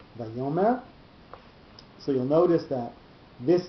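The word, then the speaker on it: ויאמר: So it's not Vayomer, it's not Vayomer, it's Vayomer. So the yo, that syllable is the one that's going to have the accent under it, and that's the placement of the note.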